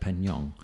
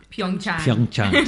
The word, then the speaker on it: Pyeongchang: Pyeongchang. Pyeongchang. Sorry. Whoops. That's my first mistake. Pyeongchang.